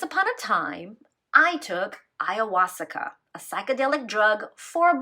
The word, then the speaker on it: ayahuasca: Pronounced ayahuasca, as I phonetically try to spell it for you as well.